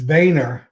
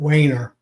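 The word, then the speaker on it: Wehner: Yeah, so if I put the German, it's Vayner, but we pronounce it Wayner. So EH is an A.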